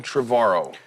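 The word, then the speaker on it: Trevorrow: uh my guest colin trevaro you said it right finally trevor likes tomorrow yeah there you go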